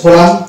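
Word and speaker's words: column: Next word হচ্ছে কোলাম, এখানে M silent থাকছে।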